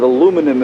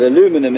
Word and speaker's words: aluminum: It's made of aluminum if you're from America.